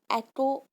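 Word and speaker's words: echo: एको होती है इससे सही प्रोनाउंसिएशन, इको भी बोल सकते हो।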